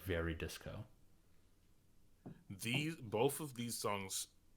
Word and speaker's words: Veridis Quo: it's Veridis Quo is Yeah, the yeah, yeah. actual name, but it's meant to be pronounced like very disco.